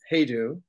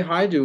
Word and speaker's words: Hajdu: the name is pronounced hedu okay I would have screwed it up you could say haidu which is actually correct in Hungarian my family says it